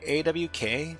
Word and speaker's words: AWK: Okay, AWK, pronounced as the word awk, is an acronym derived from the surnames of its 3 original authors.